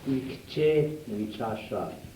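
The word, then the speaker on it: Ikce wicasa: it down on the There is two words to this. Let me tell you so you don't get the pronunciation. Ikchewichasha. Il y a deux mots dans ce vocable. You can write it in your French because it has the same sound.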